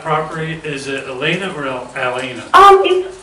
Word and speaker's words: Alena: Like Starbucks, like A-L-E-N-A, Alena. So that's, okay, yep. So it's Alana.